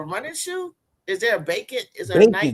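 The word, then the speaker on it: Bakin: been a good He said, "Do you like the Nike bacon and I could wear this with this jersey?"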